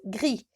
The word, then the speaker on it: gris: Un loup gris, j'ai pas prononcé le P dans loup et S dans gris.